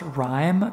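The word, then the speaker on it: Rime: well and a game i believe it's pronounced rhyme not sure it's r-i-m-e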